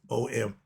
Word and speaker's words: Om: It may be pronounced as O-M, Om, but it's spelled A-U-M with a little dash at the back.